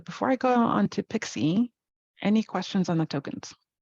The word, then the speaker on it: PKCE: either at the time with pkce pronounced pixie um this has been